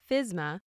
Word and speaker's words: FSMA: Safety Modernization Act commonly shortened to FSMA and pronounced FISMA is a federal law the US Congress passes